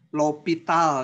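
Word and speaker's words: L'Hôpital: Ini nulisnya seperti ini, bacanya aturan L'Hopital ya, bacanya tuh L'Hopital. Nah, gitu. Di satu buku ada yang nulisnya L, ininya hospital ya. Ada juga yang hospital, O-nya tapi pakai ini, pakai curug gitu ya. Nah, ya pokoknya bacanya L'Hopital.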